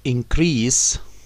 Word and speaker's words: increase: This increase, of course we pronounce it like that, increase when it is noun and increase when it is a verb.